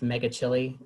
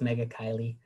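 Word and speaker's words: Megachile: leaf-cutter bees I so wanted this to be pronounced mega chili it really did but it's mega Kylie and it's the family mega coyote these are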